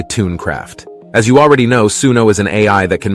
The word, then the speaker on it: Suno: The name Suno is pronounced Suno, and it comes from Punjabi and Hindi. It means to listen.